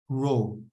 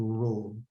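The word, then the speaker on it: ρ: the symbol for density is this a symbol row okay is pronounced as to row okay density is equal to mass over volume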